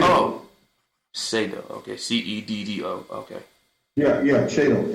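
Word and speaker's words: Ceddo: Some people do, Spell that? C-E-D-D-O. C-E-D-D-O. C-E-D-E-O. Okay. No, C-E-D for David, D for David, O. Shado. Oh, Shado.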